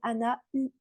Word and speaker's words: Anauel: de la vidéo que certains vont dire Anna u ok c'est simplement que le U se prononce plutôt ou mais c'est super ok